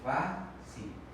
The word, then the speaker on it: fácil: Si yo lo descompongo, queda así, fácil.